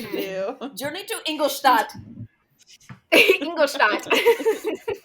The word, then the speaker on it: Ingolstadt: Ingolstadt. I'm actually not sure if that's how you say it. That's how you pronounce it. That was really good. Hell yeah. That's how it's pronounced in the audiobook.